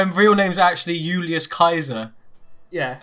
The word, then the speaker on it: Caesar: you want mate yeah his name is julius kaiser uh which is like the the original latin pronunciation of julius caesar yes uh so he